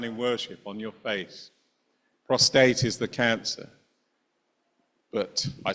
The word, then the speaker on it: prostate: One is prostate, one is prostrate. Prostrate means to fall down, usually to fall down in worship on your face. Prostate is the cancer.